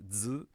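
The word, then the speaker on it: づ: And then these two here, z and z, used to be pronounced differently. They are now just z.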